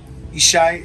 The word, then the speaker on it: Yishai: of isai and root isai is how you say Jesse in Hebrew okay so this is